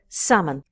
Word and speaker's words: salmon: are differences between them notice that when we say the word salmon the L is silent so that's how we say it we say salmon so what are the